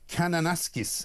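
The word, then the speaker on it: Kananaskis: well over in Canada in a place called Cananasis, I think. Is is that the right spelling? Ryan, very good uh right pronunciation.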